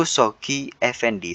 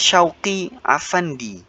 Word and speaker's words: Shoghi Effendi: Shoghi Effendi ini mungkin bacanya adalah Syauqi Afandi. Ya, Syauqi Afandi.